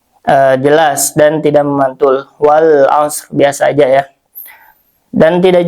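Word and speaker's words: والعصر: Alif lam di sini adalah alif lam qamariah sehingga dibaca jelas lamnya. Karena apa? ee karena alif lam bertemu dengan huruf qamariah yaitu ain. Jadi dibacanya jelas ya izhar wal as lamnya terdengar jelas.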